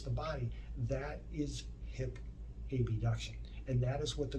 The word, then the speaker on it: abduction: and it performs hip ab duction abduction is the proper way to say but i like to say ab just to make it easier for everyone to understand hip abduction is when